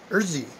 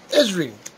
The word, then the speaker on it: Ezri: we have a civilian urzi urzi how do you pronounce her name ezri esri esri yeah i knew i'd get it right at some point mr